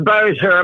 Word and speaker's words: Bossier: Is it Bossier? It's Bossier. My dad's French.